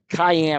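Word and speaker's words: Kayaan: steps in cathar yeah Cayenne I love that yeah makes me think of pepper yep not not spelled the same though folks no definitely not k a y a a n yeah unique way of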